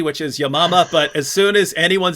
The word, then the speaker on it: Yamama: hatune just mentioned the battle of i say yamama that she pronounced it correctly which is yamama but as soon as anyone says battle of